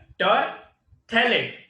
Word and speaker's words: terephthalate: Here, terephthalate, P is silent, is a familiar form of polyester.